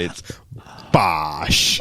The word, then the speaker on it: Bosch: fight eight fight eight Josh missak versus Billy Bosch BOS you knew what Bosch was BOS you got to say it right Brad it's BOS I can't say it I can't say it